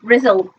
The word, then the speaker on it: Bristol: Well, Shell tells us it's pronounced Brizzle.